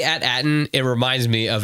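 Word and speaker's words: AT-AT: it reminds me of at at I know and everybody's made that joke right like hey we finally know the correct pronunciation of at at no it's atat guys and to me it's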